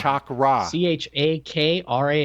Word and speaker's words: Chakram: It's called Chakram. Chakra. Chakram.